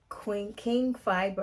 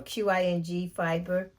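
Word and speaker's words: Qing Fibre: This is by King Fiber. I always say their name wrong. Qing Fiber.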